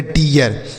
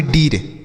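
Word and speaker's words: deer: आर से र लिखेंगे लिखा गया डियर तो इसे हम डियर पढ़ेंगे ना कि डीर ठीक है बच्चों क्यों डियर पढ़ेंगे क्योंकि कि इस डबल ई के साथ आर का प्रयोग किया गया है अगर आर नहीं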